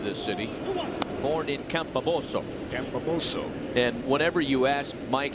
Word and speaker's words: Campobasso: Great grandparents on his dad's side, and I had to ask Mike Piazza for the pronunciation of this city. Born in Campobasso. Campobasso.